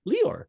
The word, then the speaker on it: Leeor: over at the cryptopolitan and today's guest is leor did I pronounce that right yeah you got it spot